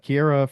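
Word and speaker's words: Ciara: You pronounce it Kira. Oh, right. That's right. It's the opposite one that we thought her name was. Okay. Yes. It's spelled like Sierra, but it's Kira.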